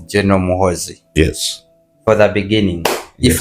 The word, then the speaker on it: Muhoozi: There's a way you pronounce Muhoozi because it's Muhoozi here we call him Muhoozi. I say Muhoozi. It's Muhoonzi and people love it.